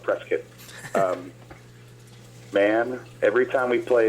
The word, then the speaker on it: Prescott: It's spelled Prescott, but folks out there call it Prescott.